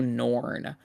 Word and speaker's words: Norn: Norn, as in like the new norm, but with a Yeah, second like yeah, N. like it like Elish spelled like an E instead of an F for flesh. Norn like Norm McDonald but with an N at the end.